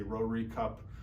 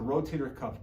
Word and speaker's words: rotator cuff: People mispronounce it or misunderstand it. They say rotary cup or any other sort of variation of that. But really what the rotator cuff does, it holds the